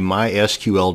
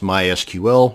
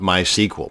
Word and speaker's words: MySQL: a mysql database and yes it's pronounced mysql not mysql so the next time you're at a dinner party discussing databases and frankly why would you be at a dinner party discussing databases but that's a different story altogether now you won't sound so much like a dork it is pronounced mysql many applications or scripts